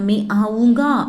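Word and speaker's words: आऊँगा: மே ஆவுங்கா, ஒரு மேல் ப்ரொனவுன்சியேஷன் வரும்போது மே ஆவுங்கா அப்படின்னு ப்ரொனவுன்ஸ் பண்ணணும். இதே வந்து ஒரு ஃபீமேல் சொல்லும்போது மே ஆவுங்கி, அந்த ஈ சவுண்டு வரணும். ஓகேவா? ஃபீமேல் அப்படின்னா ஈ சவுண்ட், மேல் அப்படின்னா ஆ சவுண்டு.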